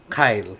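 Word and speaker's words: Kailh: English wait lang okay google okay so Ayan Kyle Kyle so Sabi ng Google Kyle So doon ako mag-base Okay so Anyway so yan Kyle daw Kyle okay rin ' ung presyo Hindi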